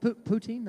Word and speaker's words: poutine: Poutine, I pronounced that right? Poutine, yep.